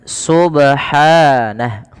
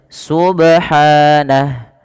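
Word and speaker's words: سُبْحَانَهُ: mengalir saja Subhana subhanah kesalahan yang kedua dalam membaca qqal adalah menambahkan Hamzah contoh sub subh subh atau Subhana gitu ya Ada nambahan Hamzah ini juga salah sehingga tidak boleh kita membaca qalqala dengan tadi ya harus bagaimana cara baca yang betul Subhana menghilangkan tadi dan tidak putus subh di sini kalau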